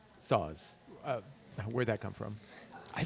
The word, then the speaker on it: Sauz: it's not pronounced sauce. It's Sauz.